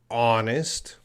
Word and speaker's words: honest: So my mother is, and we have the word honest. Now it's very important how we pronounce the word honest. Honest has a silent H.